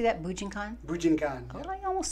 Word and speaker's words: Bujinkan: Bujinkan.